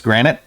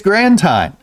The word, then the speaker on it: Grantine: I've been calling this granite. It's grantine.